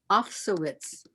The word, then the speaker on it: Afsowitz: Afsowitz. Sounds German? Russian. Oh, Russian. Uh-huh. Afsowitz would be the pronunciation there.